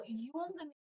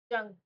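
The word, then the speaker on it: Jung: वो टाइप है जो यंग क्या बोलोगे जंग ये लिखा है हम जंग नहीं हम यू साइलेंट हो English is a very complicated language I एज I told अर्नियर English is a very complicated देखिए लिखा है जंग जे है जे यू एन जी तो जंग ही बोल पढ़ेंगे नाम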